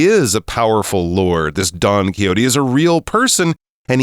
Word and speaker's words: Don Quixote: This Don Quixote is a real person, and he says he's